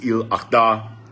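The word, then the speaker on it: Eid al-Adha: I don't always get the pronunciation right. I know it's Il Adha.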